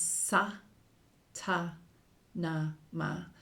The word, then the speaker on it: Sa Ta Na Ma: parts and you becomes sa ta na ma so so the a is pronounced like Mom like Mom sa na ma and